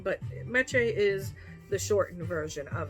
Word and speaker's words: Meche: to pronounce it correctly i tell everybody it rhymes with leche and if you know any spanish leche means milk so mache like lache so say the word leche milk in spanish and then say my name miche like leche and so therefore it is easier to pronounce and it's also something